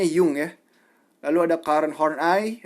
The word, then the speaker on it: Jung: psychoanalysis diantaranya da kyum ini tulisannya Jung tapi dibahas dibacanya yongyea Lalu ada karet home